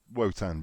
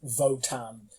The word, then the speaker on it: Wotan: Another unusual thing is that the way they pronounce Wotan, you think it starts with a V.